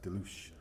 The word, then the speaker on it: Deluge: But, obviously in France, it's a French word, to them it's more like deluge. Yeah. But I mean, I am not French and I don't actually know how to pronounce it properly. So I guess it's whatever country you're in, it's however you would say that word.